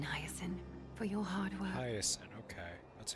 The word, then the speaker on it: Hyacinth: Hyacinth, okay. That's how you pronounce The it.